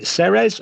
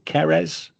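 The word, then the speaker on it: Ceres: Now during the wandering, she comes upon a temple of and I'm going to pronounce this wrong. Is it Serez or Kerz? The series.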